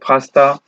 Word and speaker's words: FASTA: There are different kind of file formats like FASTA format, GenBank, EMBL, AVI, PDF, SwissProt, BAM, SAM, SFF, etc. Next, I will discuss about FASTA format. FASTA format is pronounced by fast A.